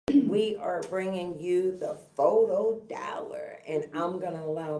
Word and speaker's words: FOTO: wrong i did not it is spelled f-o-t-o photo trying to be cool